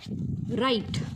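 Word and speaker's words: write: ह्यामध्ये काय आहे रे हा जो काही डब्ल आहे हा काय आहे बघा सायलेंट आहे आणि राईट म्हणजेच काय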